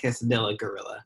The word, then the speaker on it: Quesadilla Gorilla: I say Quesadilla Gorilla.